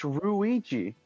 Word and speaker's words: Luigi: It's Ruigi. Yeah, probably. Uh, it really is. It really is. Just L is replaced with R Ruji.